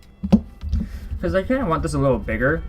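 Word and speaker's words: を: You do pronounce it as wa, but for wo, you don't really pronounce it as wo. It's o.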